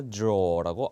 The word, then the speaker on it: drawer: 오케이, they're storing files in a drawer라고 R 발음은 탈락시키고 얘기하는 게 바로 영국 영어가 되겠습니다.